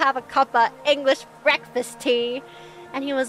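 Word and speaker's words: Thames: a row hey but instead of saying River themes I said River T so I was like a little bit closer now I know to only do my British accent around non-british people apparently it's pronounced the river T why the is it spelled like that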